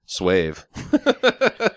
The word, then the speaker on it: Suave: It's You're talking about semen suave? from those gentlemen friend of his. It's phonetically pronounced Swave.